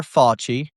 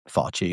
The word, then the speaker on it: Fauci: Fouchy. Fouchy. Fauci. It's spelled fu cci. Sorry. It's Fouchy.